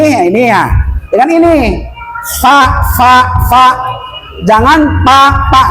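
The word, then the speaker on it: ف: Cuman kalau lah menyebutkan huruf Arab maka barengi dengan angin fa dengan gigi kalau papa ah itu apa kurang pas.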